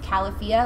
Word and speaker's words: Califia: the longest time but apparently it's califia like California so that was news